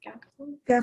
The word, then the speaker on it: scaphoid: Okay, so A is what, scaphoid? How do you say it? Scaphoid?